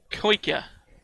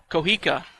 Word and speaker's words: Kohika: Koika, I think is how you say it. Kohika, thank you.